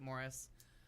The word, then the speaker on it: Maurice: made the wonderful movie Morris which reads like Maurice but you pronounce it Morris was the first happy